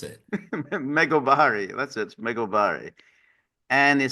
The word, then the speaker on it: Megobari: It says US House bosses Megabari Act and um you got you you got to you're not serious. This I I didn't even know how to pronounce it. Meobari.